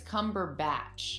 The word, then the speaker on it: Cumberbatch: this movie yes it's it's cumberbatch kind of like a batch of cookies peppers i'm jake has